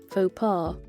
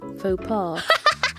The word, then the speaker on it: faux pas: I know I can say it myself, but because Faux pas. it's just funny because fucking Google Chrome. Yippee! Yeah. Freaking French loanwords. I know. What the X is silent. The S is silent.